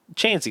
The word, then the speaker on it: Chansey: Chansey, like the Pokemon.